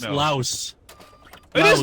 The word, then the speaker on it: Laos: You got to pronounce it. We must It's know. Laos. It is Laos.